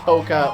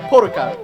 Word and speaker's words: polka: of the moon, fucking, we didn't pronounce the L in words like polka or folk. And, like, where I live now, you do. And, like, polka's name, it's polka. Like, you know, you have the extra syllable in there, so it feels like I should. So I say it with the L, but, like, if I talked about polka, the music genre, I wouldn't.